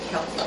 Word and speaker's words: Celtic: It's spelled with a C, but we pronounce it Celtic sea salt.